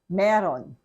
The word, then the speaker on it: mayroon: So in conversation, even if we spell it as M-A-Y-R-O-O-N, we pronounce it as meron. Okay? For you to be understood, you have to pronounce it as meron.